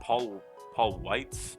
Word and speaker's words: Weitz: But yeah, it was directed by Paul Weitz is how you pronounce his last name.